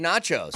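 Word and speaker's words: Nečas: This is how you say his name. Marty Nachos.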